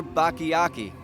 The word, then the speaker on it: Bakayaki: Hey guys, we're here with Bakayaki. Yes. I said it correctly. It's only taken me 6 years to say it correctly.